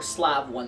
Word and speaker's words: Slave I: Or Slav One, depending on how you want to pronounce it. Slav. They wanted to pronounce it Slav instead of Slave because Slave is bad, but...